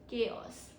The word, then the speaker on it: chaos: CH sounds like K, not CH, not chaos, not chaos or chaos. We say chaos. Okay? Chaos, H is silent.